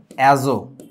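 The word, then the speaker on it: azote: এটার নাম দিছিল হচ্ছে এ জো এজো ইংরেজিতে বানানটা হচ্ছে এজেড ওটি টিটা সাইলেন্ট থাকবে ঠিক আছে তাহলে উচ্চারণটা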